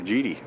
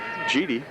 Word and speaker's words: Geedy: G-E-E-D-Y. Geedy. I guess they pronounce it Geedy. That's how it's spelled anyway.